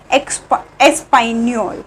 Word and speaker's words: espagnoles: Okay, which is ESPAGNOLES and we pronounce Espagnol. Okay, we pronounce Espagnol and S is silent in pronunciation.